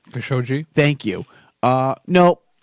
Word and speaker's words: Khashoggi: Khashoggi.